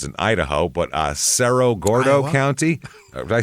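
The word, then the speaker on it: Cerro Gordo: Who knows how they pronounce in Idaho, but uh Sero Gordo County.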